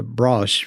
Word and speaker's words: Broseh: No, it has always been pronounced uh brush from my childhood.